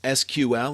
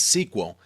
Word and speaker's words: SQL: Structured query language SQL pronounced as SQL or sometimes as SQL is actually the standard language for dealing with relational databases.